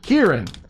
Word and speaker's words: Kieran: it was Kira Kira I said it rhymes with beer yeah beer here Kieran she just doesn't like